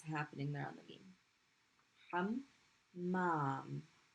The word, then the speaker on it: حمام: Hammam. It's being pronounced twice. So we're going to put a shadda.